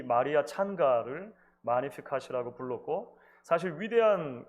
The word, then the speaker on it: Magnificat: 오랜 기독교 역사 속에서 이 마리아의 노래는 마리아의 찬가 또는 마니피캇이라고 불려져 왔습니다. 영어식으로 읽으면 Magnificat이라고 읽기도 하는데요. 원어에는 마니피캇이 훨씬 가까운 것 같아요.